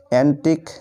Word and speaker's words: antique: তারপরে দেখো সবশেষ নিয়ম, রুলস নাম্বার 5, শব্দের শেষে যদি QUE থাকে তাহলে এই 3টি বর্ণ একসাথে ক এর মতো উচ্চারণ হয়।